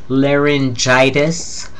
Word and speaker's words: laryngitis: pertaining to the larynx laryngitis notice how that X at the end of larynx turned into a g and a soft G that sounds like a j besides It's Tricky